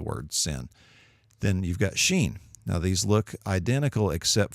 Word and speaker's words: shin: on the right and Shane is pronounced like the SH sound like in Shin so seen in sin